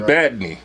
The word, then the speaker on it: Badney: I'm Badney. You dig it? That's how you pronounce it, Badney.